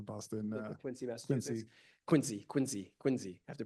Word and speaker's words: Quincy: They get very specific about how they want to have their name pronounced. Quinsey, Massachusetts.